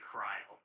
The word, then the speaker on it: Krile: It's funny, because her name is actually Krile.